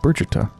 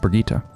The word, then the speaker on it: Bharata: hand in marriage oh so it's pronounced Bharata not Perdita well I'll be damned